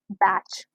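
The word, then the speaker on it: batch: तो इस केस में हमारे पास टी साइलेंट है यहाँ पर, तो कभी भी एंडिंग में TCH आए तो उसमें टी साइलेंट होता है, ओके।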